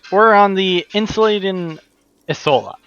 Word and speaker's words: Insulindian: Ah, so that's how it's pronounced. We're on the Insulindian Isola.